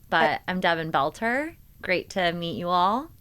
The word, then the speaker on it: Belter: Last name Belter. My dad always used to say it was like belt like the wear that you wear on your pants.